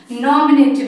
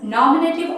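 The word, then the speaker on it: nominative: सी the first one नॉमिनेटिव case. First one क्या है? नॉमिनेटिव। इसको नॉमिनेटिव नहीं प्रोनाउंस करते हैं। Don't pronounce नेटिव नॉट। ये नेटिव नहीं इसको नॉमिनेटिव। यहां ए इसको स्लाइंगली प्रोनाउंस करना।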